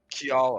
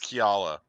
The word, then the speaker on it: Kiala: Because Caleb's been mispronouncing it. I'm worried now. I know. Kiala. Yeah. There, it's Kiala.